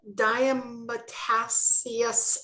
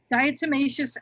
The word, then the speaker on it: diatomaceous: to pronounce it right what is the diametacious earth diatomaceous earth i knew i wouldn't pronounce it right yeah so diatomaceous earth